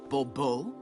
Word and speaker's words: Bourbeau: Monsieur de Bourbeau. The emphasis falls on the last syllable. Bourbeau?